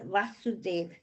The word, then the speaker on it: Vasudeva: This word Vasudev, this is what I learned.